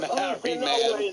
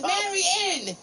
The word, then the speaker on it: Mary Ann: Go on your Mary Man. I'm not Mary Man. It's Mary Ann.